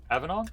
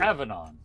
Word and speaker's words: avennon: Avanon. How? Yeah, Avdon. Thank you, Avanon. Avanon. Avanon. Aanon. My bad. Keep trying to go for a high A instead of a low A.